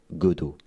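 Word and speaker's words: Godot: Le deuxième moteur en tête arrive godo avec un T à la fin mais on prononce Godo.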